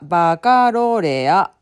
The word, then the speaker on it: Baccalaureate: この読み方はバカロレア。